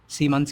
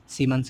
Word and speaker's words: Siemens: और इसी को हम क्या कहते हैं, सीमंस कहते हैं। इसकी स्पेलिंग क्या थी, SIEMENS, सीमंस कहते हैं, ठीक।